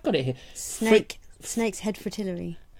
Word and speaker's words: fritillary: Snake's head fritillary. Fritillary, is that how you pronounce it?